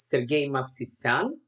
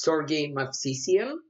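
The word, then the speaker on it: Sergei Movsesian: strong Armenian player um the proper way to pronounce his name is Sergey Maan or if you want the English version It's Serge mafan um at the time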